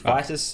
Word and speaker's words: Vitus: How do you say that again? Vitas. It's Vitus. Okay.